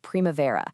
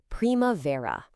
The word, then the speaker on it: primavera: We're kicking things off with Primavera, the season of, new beginnings and just a total explosion of color. So that word is primavera.